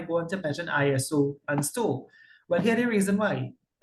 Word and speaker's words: STOW: you pronounce it as STOW, S-T-O-W, STOW.